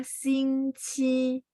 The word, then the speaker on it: 星期: Kalau nomor 5 itu bacanya 星期.